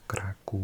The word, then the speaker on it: Kraków: Yeah, the thing over the O means it's a U sound, so it's Krakow, and this is a V.